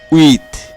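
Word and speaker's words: huit: তারপরে রয়েছে উইথ। উইথ এর বানানে শেষে তে আছে এবং তের উচ্চারণ হচ্ছে।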